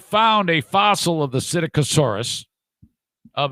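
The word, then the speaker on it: Psittacosaurus: is called acidic asaurus i think the p is silent p s i t t a c o s a u r u s cyticosaurus they have found a fossil of the cyticosaurus of its clocal vent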